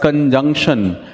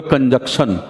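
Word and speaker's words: conjunction: मतलब मैं 80% लोगों को सुनता हूं बोलते हुए कंजक्शन, कंजक्शन नहीं होता है, कंजंक्शन होता है।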